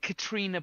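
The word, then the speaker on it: Caitríona: the Oscars, is that, you know, is it Katrina Balfe? Is that how I think you'd pronounce it, Katrina?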